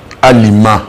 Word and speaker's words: Alima: Est-ce que j'ai bien prononcé Alima? Alima.